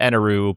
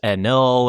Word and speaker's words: Enel: The Viz official English translation calls him Eneroo. But if you read from like the subs or whatever, the true pronunciation is enl or whatever.